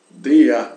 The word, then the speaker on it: der: Então, vejamos aqui, quando as palavras acabam em R, né? Em alemão, nós pronunciamos esse R como se fosse uma A, né? Der, né? Aqui, der, né? No original, né? Daria o dia.